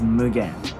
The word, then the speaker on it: Mugen: keidel this next up it's Mugen its moogan moogan moogan all right last up